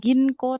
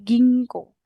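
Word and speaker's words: 銀行: Nah, itu dibacanya akan menjadi gingko. Bukan ginko tapi gingko. Agak kayak mendengung gitu loh.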